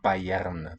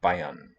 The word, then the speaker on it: Bayern: Bayern. although there's no vowel written there. It's not Bayern, though. Bayern. The R vocalizes.